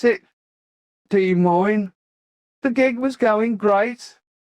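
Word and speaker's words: Des Moines: January 1982, we played the Veterans Auditorium in De Moine, Iowa. I'll never forget the name of that place, that's for sure, or how to pronounce it. De Moine.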